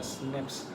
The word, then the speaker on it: SNP: single nucleotide polymorphism cranial pronounce the snips occur in humans this